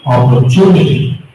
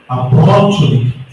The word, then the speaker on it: opportunity: It's opportunity, not opportunity. The stress is wrong, the pronunciation is wrong. Opportunity. Opportunity. The third syllable from the last has to be stressed.